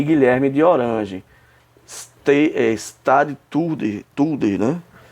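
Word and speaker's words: stadhouder: Stade Tulder, né? Em holandês, né? Stade Tulder, tá vendo aqui como se pronuncia, que era da Holanda, era um título específico holandês equivalente a chefe de Estado.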